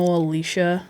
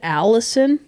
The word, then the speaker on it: Alicia: i also think like i know alicia like a-l-i-c-i-a maybe isn't like phonetically easy but i've got all sorts of yeah hey like how you get allison whoa from alicia is mind-boggling to me yeah that's a stretch